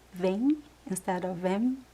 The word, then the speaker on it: vem: We don't pronounce the m at the end of words. We say vain. Instead of them, right? Vin.